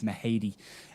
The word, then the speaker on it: Mahady: unaware of the pronunciation of the name it's mahadi and they might pronounce different in scotland the name in ireland